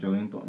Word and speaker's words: Joelinton: And he has not got a great chance yet at Newcastle, being behind Joelinton. That's how you say it? Joelinton, yeah.